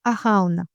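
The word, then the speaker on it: Arawn: Le dieu qui gouverne le monde de la noun c'est Araun. Ça s'écrit A R A W N.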